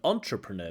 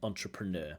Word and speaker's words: entrepreneur: entrepreneur in future entrepreneur so not entrepreneur but entrepreneur the stress on the last syllable entrepreneur not entrepreneur but